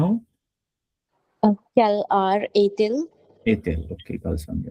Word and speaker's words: heure: So il est 1 heure because we do not pronounce ash.